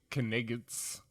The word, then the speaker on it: night: Well, he also was yells, "You English kniggets," right? Yeah. Yeah, because that's how a French person would pronounce night. Night. With the K and the Yeah. G in there.